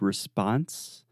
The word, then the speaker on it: response: one quick pronunciation note in the word response in American English the second sound is the response response precisely so you are responding